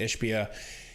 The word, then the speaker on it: Ishbia: Matt Ishbia, that's how you say it, Ishbia, he came out the